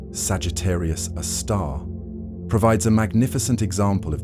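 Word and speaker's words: Sagittarius A*: The super massive black hole at the center of our galaxy known as Sagittarius A, pronounced Sagittarius, a star, provides a magnificent example of these cosmic behemoths in action.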